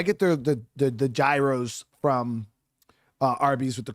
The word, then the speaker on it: gyro: Yeah, I know people say it's a euro. I It's a gyro, dude. That's just That's what I call it. That's what I've always called it. That's how it's spelled. You know, there's some people that call it a girro.